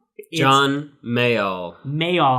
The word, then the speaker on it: Mayall: guy's name wrong John Mayall may all I keep saying mail well like the mailman Bluesbreakers John Mayall with